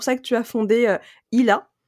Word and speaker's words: Illa: Du coup c'est pour ça que tu as fondé ILA. C'est comme ça Mhm. qu'on prononce bien comme il faut. C'est tout à fait comme ça.